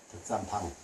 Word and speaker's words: 덕산방: 덕산 방. 봉자 써 놓고 방이라고 읽어요.